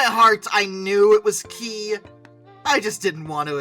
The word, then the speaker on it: Ki: It should be KI 61. But, let's be fair, nobody, no one, not a soul, says those designations by letter if it can be pronounced as an actual word, so I'm going with Key 61.